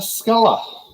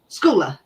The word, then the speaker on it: Schooler: I think it's Spencer Sculler. Schooler. Schooler. That's how you say it.